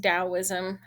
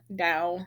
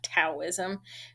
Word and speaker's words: Taoism: It is pronounced Taoism, Tao, not Taoism, kind of how it looks.